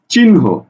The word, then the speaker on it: চিহ্ন: একটা শব্দ লিখলাম দেখো চিহ্ন এই চিহ্নর উচ্চারণ কি হবে দেখো তো আমি লিখছি চিন হকার হ চিহ্ন লক্ষ্য করো এখানে বানান